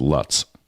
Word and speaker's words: Lutz: That's Lutz. Well, you pronounce it wrong because here it's Lutz.